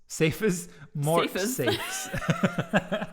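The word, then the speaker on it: mortsafes: Mort safes. The E isn't pronounced as a single syllable.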